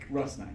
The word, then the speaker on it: Rusnák: couple of different ways how how correctly is it pronounced i mean it's albert russ russ knight okay thank you and